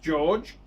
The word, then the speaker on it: Jorge: George, pronounced George, Carmenaty, is a lifetime timepiece enthusiast from Texas,